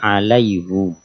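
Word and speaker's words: عَلَيْهُ: usnya haknya dikasr ahah maka umumnya membacanya Alaihi tapi di sini alaihu Kalau dari segi makna sama atasnya atau kepadanya tapi dari segi cara bacaannya pas di lafaz ini alaihu berikutnya ayat 12 nah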